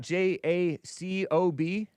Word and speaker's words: Jacob: Is it JACOB?